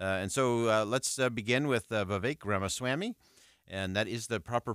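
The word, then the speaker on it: Ramaswamy: for tonight uh and so let's begin with v grma Swami and that is the proper pronunciation we've done the quadruple check on that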